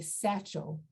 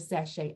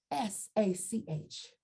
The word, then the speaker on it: sachet: say satchel instead of sashay i don't know where that came from i wish somebody could explain to me where that came from but sachet is a french word it is spelled s-a-c-h-e-t and it's pronounced sachet